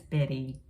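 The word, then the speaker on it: Bette: Merrell streak and Betty some people can say white is to how it's spelled it's spelled b-e-t-t-e and that's Betty Davis okay you're very good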